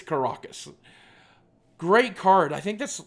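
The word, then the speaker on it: Karakas: our rare Caracus or as I heard some YouTuber pronounce it yesterday car caracos which I don't think is correct I think it's karacus great card I think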